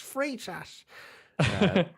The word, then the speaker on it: Freitas: and everyone's like oh it's not free of fright ass it's free sash so yeah uh right